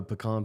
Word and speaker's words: pecan: Oh, pecan pie. Yeah, that's the proper pronunciation.